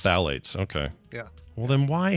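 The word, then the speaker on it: phthalates: go Dr Calhoun says Google says the pH is silent so it's just basically thales just phalates okay yeah well then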